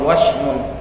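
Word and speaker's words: وَشْم: Q ahlah berkata ahlul lughah almuathin sukunin wasm itu bacanya pakai fathah wa kemudian syinnya disukun wasmun an yugza fil adwi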